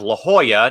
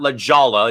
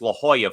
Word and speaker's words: La Jolla: And also aerobics also mispronounced, but we have La Jolla, not La Jolla. It's La Jolla, folks.